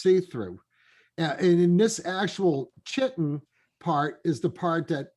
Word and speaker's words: chitin: CHITIN. I always pronounce it cited. Oh no, it is with an H. You're right. Yeah, it's CHITIN, chitin.